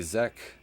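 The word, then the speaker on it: Czech: But anyways, a Zek genius, I guess that's how you pronounce it. C is silent.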